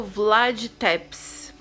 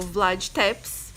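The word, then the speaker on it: Vlad Țepeș: personagem da história a pena que é o Vlad tepes eu acho que assim que pronuncia o nome dele deixou olhar minha cola é o Vlad tepes que também era conhecido como o empalador gente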